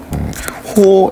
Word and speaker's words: 호: 호 AB라고 읽는 거예요. 호 AB 이렇게 읽어요.